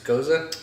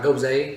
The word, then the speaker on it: Gose: how you say it it's a Koza goes though it's not goes eh just not goes eh this girl goes nope it's a German word it means delicious is